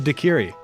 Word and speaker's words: daiquiri: just looked it up a slurpee with bacardi is a dakiri that's how that's pronounced i knew it was